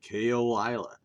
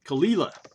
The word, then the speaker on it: Caol Ila: You know, pronouncing Gaelic is incredibly hard. I look at that and want to say kola. You know, that's the Oklahoma way of saying it. But uh Khalila is the proper way or so I've been told.